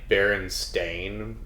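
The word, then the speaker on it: Berenstain: timeout oh yeah uh how it's like actually spelled like baron stain and yeah yeah but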